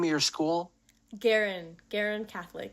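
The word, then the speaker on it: Guerin: But so you're at, how do you pronounce the name of your school? Garin Catholic. Garin.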